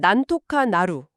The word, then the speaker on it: なんとかなる: 발음은 난토카 나루.